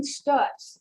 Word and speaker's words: Stutz: soften this color just a little bit stutz it's the i've known since birth and